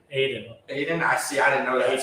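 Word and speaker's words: Adin: Is it Hayden? Aiden.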